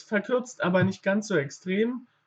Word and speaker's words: extrem: Es verkürzt aber nicht ganz so extrem. Extrem haben wir natürlich auch das Wort. Dort wird es auch etwas kürzer ausgesprochen. Ja?